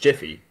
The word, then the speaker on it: Giffy: Well, it's also funny because your name should actually be pronounced Jiffy. Actually, my name should be pronounced. Go fuck yourself. I'm joking. Giffy, you know, we had this conversation before.